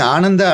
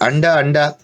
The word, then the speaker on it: Ananda: very careless in pronunciation instead of calling ananda ananda they used to end up with ander and my father got really mad he said anda means an egg i don't want my